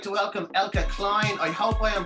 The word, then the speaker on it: Eelke Kleijn: Ladies and gentlemen, I'd like to welcome Eelke Kleijn. I hope I am pronouncing your name correctly.